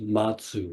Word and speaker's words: Mazu: perhaps the greatest of the early Zen Masters Matsu or in Japanese pronunciation baso he lived in the 8th Century